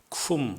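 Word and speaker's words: Cwm: 쿰 론다라고 읽는데 이 문자는 지금은 거의 사용하지 않고 있는 웨일스어입니다.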